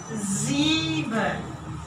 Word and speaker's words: sieben: So this one is a sieben. We have a ilon. And I told the S, mostly in the word are pronounced like a Z.